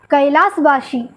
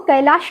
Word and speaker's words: कैलाश: देखिए, हम अधिकतर लोग कैलाश को कैलाश कहते हैं, लेकिन असली जो वैदिक उच्चारण है वो है कैलाश, मतलब केवल आनंद, जिसमें जैसे उल्लास, विलास, वैसे कैलाश, जहाँ केवल आनंद, उल्लास।